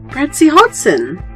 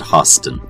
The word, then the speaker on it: Hodson: Brad C. Hodson. Yeah, you said it right that time. You said Hostin.